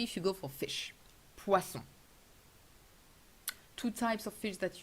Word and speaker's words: poisson: Very careful with the pronunciation of poisson. Pois, open, s, the snake sound. On, nasal sound, not poison. Very common mistake. Poison means poison. And poisson means fish.